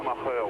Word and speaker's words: Schumacher: Schumacher, oui, comme on le dit depuis la Coupe du Monde de football, de grande mémoire en France.